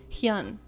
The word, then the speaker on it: Hyun: boyfriend hewn comes up pronouncing it right pronouncing hyun there you go just pronounce it the way it's spelled like that's his name her